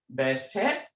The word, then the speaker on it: Bastet: And let me pull up the pronunciation of that god. So it's Bastet.